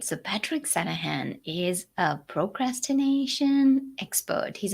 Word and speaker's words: Sanaghan: yeah thanks for asking the g is silent it's called santa han all right so patrick sanahan is a procrastination expert